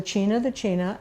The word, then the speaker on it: China: And but he did teach us important things, which was that you pronounce Tanana, Tanana, and you pronounce the China, and really important things.